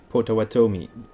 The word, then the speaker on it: Potawatomi: chicago and they are in the chicago area potawatomi that's the first time i pronounce it perfect without hesitation i mean oh